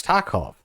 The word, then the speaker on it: Tarkov: Well, that's how they pronounce it. It's Tarkov.